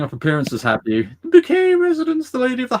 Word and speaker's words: Bucket: Posh um so her her name was spelled bucket and everybody kept calling her bucket Mrs bucket it's pronounced bouquet and she had working